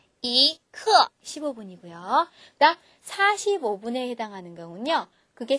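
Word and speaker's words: 一刻: 쿼터의 개념이라고 생각하시 면 돼요 그러면 그건 15분에게 발음하죠 이크 15분이 그다음 45분에는 경요 그게 세 개 모이면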